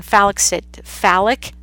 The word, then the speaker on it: phallic: Okay, third one, phallic, that's how you pronounce it, phallic stage.